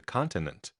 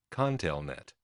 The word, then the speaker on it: ConTelNet: seemed to be under the impression that it was called the continent it wasn't until I was a good way into the research that finally an employee pronounced it Conn tail net of course by now